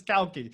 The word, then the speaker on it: Cauchi: you pronounce that right cow like milk and key like i i've had every variation that doesn't matter marcus kalki so welcome he's author